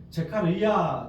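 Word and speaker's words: זכריה: 했습니다 그의 이름 가리아 히브리어로는 제카리아 제카리아 발음인데이 카리야는 제카르 야후에서 왔습니다 야후가 무슨 뜻이죠 나님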